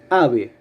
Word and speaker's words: ave: La primera sílaba es la que suena más fuerte, porque si no la palabra sonaría ave.